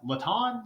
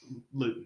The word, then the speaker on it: Luton: Jake, how do you say his last? Laton? Luton? Luton. Okay, not Laton.